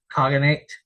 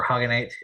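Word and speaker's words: Khaganate: groups from Mongolia such as the second turkic kogenate uh or hogate as as it's uh actually pronounced uh and the hogate which would dramatically reduce the number of Royal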